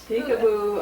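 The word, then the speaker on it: Picabo: something oh my God peekaboo um but it's spelled p-i-c-a-b-o right oh that's right that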